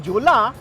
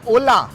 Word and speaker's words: Jolla: जोला पर वो है ओला अरे यार ये फिरंग के प्रोनंसिएशन बड़े अजीब होते हैं जे को फिनलैंड में साइलेंट माना जाता है सो इसलिए जला को ला प्रोनाउंस करते हैं एंड इट्स एक्चुअली अ